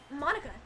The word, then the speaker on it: Monica: name at all exactly because in Japanese it'd be mo nica but for this paym it's Monica also that joke makes